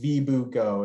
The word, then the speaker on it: Vibugo: The thing that we have, the game company we have is pronounced Vibugo.